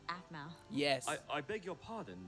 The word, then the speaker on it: Aphmau: Pizza delivery for Miss Aphmau? Aphmau, actually. It's pronounced Aphmau.